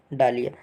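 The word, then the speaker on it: dahlia: ठीक, गेंदा और डालिया, ये गेंदा और डलिया बोला जाता है। कहीं कहीं अलग अलग जगह पे अलग अलग इसका प्रोनाउंसिएशन लोग करते हैं, अलग अलग शब्दों में बोलते हैं।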